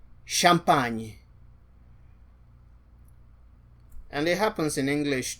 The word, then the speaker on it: champagne: The next combination is C and H. This also happens with S and H. So this is pronounced as sh, sh, sh. As in champagne.